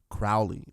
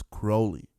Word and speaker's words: Crowley: I've been pronouncing his name Crowley, but it's Crowley.